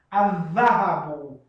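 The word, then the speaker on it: الذهب: Acontece de que lam, ela é escrita, mas não é pronunciada, e dha, que é uma das letras de Shamsiyya, solares, ganha shadda. E a sua leitura fica mais forte. Adhahabu.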